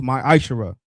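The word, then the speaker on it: ma'aser: of Malachi 3:es 8-10 means 10th in the Hebrew and is pronounced myisher.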